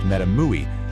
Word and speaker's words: MetaMUI: A project like MetaMUI, that's pronounced MetaMUI, chose this opposite path.